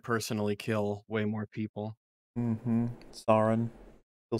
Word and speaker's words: Sauron: Ron Swanson Ron Swanson so now put saw before Ron Swanson then say his name Sauron Swanson pretty much there there